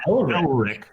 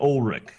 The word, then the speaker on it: Ulrich: Oh, Her name is not Elrich. not Elrich, but Ulrich.